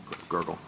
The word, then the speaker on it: Gergel: I mean, at trial, Judge Gergel, is that the correct pronunciation of his name? Gergel.